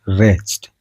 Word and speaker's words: wretched: Next question होची हमरो रेस्ट। हला रेस्ट रो स्पेलिंग देखंतु WRETCHED। हला रेस्ट रे W टास कोन होची साइलेंट होची।